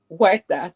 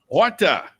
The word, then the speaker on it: Huerta: Huerta. The H is silent. Huerta.